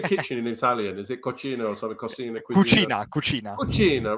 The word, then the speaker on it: cucina: Is it cucina or something?